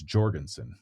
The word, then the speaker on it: Jorgenson: nuts but he has a bad moment cracks Jorgenson I it's Jorgenson we should say his name right now that